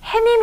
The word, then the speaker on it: 해님: 핵 프로스 밈 인데요 우리 발음할 때 잘못 발음 해서 우리가 햇님이 라고 한 거지 원래대로 는 해님 이라고 발음을 해야 맞습니다 내 그래서 햄 이번이